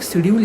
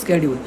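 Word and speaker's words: schedule: Companies act में तुम्हें एक शेड्यूल याद रखना है। खैर शेड्यूल तो बोलते नहीं है। इसका प्रोनाउंसिएशन चेंज होता है। उसको बोलते हैं स्ेड्यूल।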